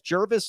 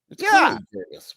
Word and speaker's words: Jervis: Jervis like um Jervis like nervous. Jervis is back in. I love Jervis. Jervis. Jervis says on his in the chat he says Jervis like nervous.